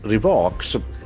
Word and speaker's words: revoke: Here that the O has got O sound. Revoke. There are two syllables, accent falls on second syllable.